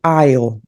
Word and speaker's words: I'll: Esse I'll, ele não tem a pronúncia do W, que é uma pronúncia de U, né? Então a gente come aqui o som do W e fica só I'll.